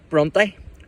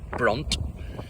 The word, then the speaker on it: Brontë: Patrick asked him to change it to BRONTÖ, later adding a diacritic mark so that it would not be pronounced brunt.